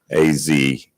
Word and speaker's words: Isaac: It's just the way it's spelled is it's Isaac, Azak.